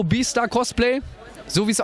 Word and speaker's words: BStar: Das ist Toho Beastar Cosplay, so wie es ausgesprochen ist.